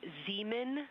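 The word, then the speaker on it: Zeman: We believe that that is Zemen Crater. Zemen. Okay. And can you say the first letter? I may be pronouncing that wrong.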